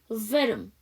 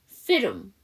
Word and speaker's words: film: 필름. 근데 그렇게 발음하시면 안 되고요. 여기 L 사운드를 받침으로 넣으시고요. M 사운드 앞에는 모음이 없는 거야. 그럼 우리가 보통 모음이 생략되거나 묵음이 되게 되면 발음을 하죠. 그래서 film, film.